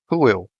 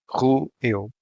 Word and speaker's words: roeu: Again, a two-syllable word with no accents. This one, however, ends in a diphthong, so the stressed syllable is the last one. The O is shut and the diphthong sounds eu.